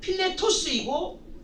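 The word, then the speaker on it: Φιλητός: 이 사람에 의하여서 빌레도가 잘못된 교리에 빠지게 되는데, 빌레도의 이름을 보면 헬라어의 발음으로 필레토스이고 뜻은 사랑받는 자입니다.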